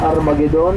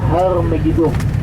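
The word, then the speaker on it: Har Megiddo: Armageddon yaitu juga salah pronunciasi, seharusnya kita mengatakan Harmegiddo. Har yaitu gunung dan Megiddo ya nama tempat saja.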